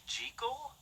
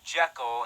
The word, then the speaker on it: Jekyll: off lately right you know that the proper pronunciation is jiggle that's what the author of the novel insisted